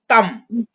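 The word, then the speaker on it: ত্বাং: পৃচ্ছামি তাম, এখানে দেখুন তাং যেটা আছে, অনুস্বর আছে, যেটা লাস্টে অনুস্বর থাকা মানে হচ্ছে আমরা উচ্চারণ করি, ময়ের উচ্চারণ করি। হ্যাঁ, পৃচ্ছামি তাং না বলে তাম বলবো আমরা।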